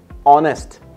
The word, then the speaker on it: honest: the most interesting one honest are you know why we use the article and R or an honest gentleman because that H is silent man we are using